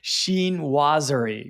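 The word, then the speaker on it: chinoiserie: and I had to actually Google how to pronounce it Sheen wer that's how from from the YouTube pronunciation video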